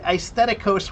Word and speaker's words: aesthetic: No, because it comes from the Greek word aestheticos which is actually a I. Um, so the pronunciation of it is is just with an e, but the ae is the spelling.